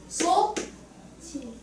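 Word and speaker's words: 솥이: 그럼 어떻게 발음해야 될까? 소 치 어 치 이렇게 국 음화가 일어나. 자 헛소리가 티우시고요. 그다음에 이거 이게 조사잖아. 조사. 그래서 국기마가 이렇게 일어나. 그럼 소치 이렇게 해야 맞습니다.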